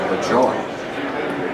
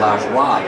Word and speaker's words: Lajoie: I pronounced his name LaJoie. Now, he had 12 different ways to pronounce his name, Lajoie. Okay? And Lajoie is the French pronunciation.